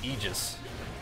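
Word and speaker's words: Aegis: have to though well how how you actually pronounce that word is is like egis but that's not oh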